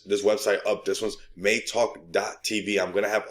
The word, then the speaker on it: MeiTalk: i just dropped but they let me know that it's pronounced may talk okay so now we